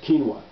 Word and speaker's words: quinoa: I hope I'm pronouncing that right. It's spelled Quinoa. I believe it's pronounced quinoa.